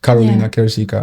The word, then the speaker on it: Karoliina Kirsikka: I mean, from one of the things that I found researching you, it's like what you have now with your brand, like Karoliina Kirsikka.